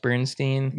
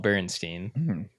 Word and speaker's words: Berenstain: So I think even though it's like spelled Berenstain, it's pronounced Bernstein.